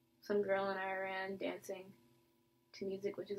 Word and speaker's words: Iran: see that every day Iran Iran Iran Iran let me say that I grew up under George Bush so I sometimes say Iran which I'm pretty sure is the incorrect way to say okay we